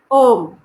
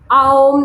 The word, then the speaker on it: ओम: य गलत उच्चारण है आओम नहीं होता है होता है ओम और ओम बोलने के लिए ना तो उसको बहुत ज्यादा बड़ा खींचना पड़ता है ना ही छोटा खींचना पड़ता है ऐसा कुछ नहीं